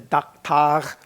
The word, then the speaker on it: daktag: They spelled it that way, pronounced daktag, I guess. So I Klingonized it to daktag.